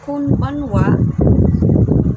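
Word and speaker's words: こんばんは: So kanang konbanwa pwede ra na nimo i-pronounce konbanwa mao na siya good evening sa Japanese konbanwa.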